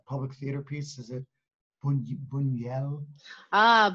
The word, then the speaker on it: Buñuel: I don't know how to pronounce the public theater piece. Is it Buñuel? Ah, Buñuel.